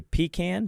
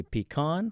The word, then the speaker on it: pecan: which pie I'm going pecan pie and uh and how do you say it you say pecan do you say pecan I say pecan or pecan okay pecan pie you